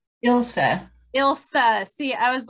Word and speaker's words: Ilsa: And I know you told me your name, but it's a different one, Elisa. Ilsa.